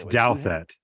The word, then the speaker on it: Douthat: Ross, how do you pronounce his name? It's Anyways, you have. Douthat. Douthat.